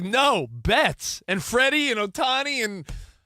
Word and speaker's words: Betts: My My son's like, "No, Bets." And Freddy and Otani and Oh, yeah. Rhymes with Mets.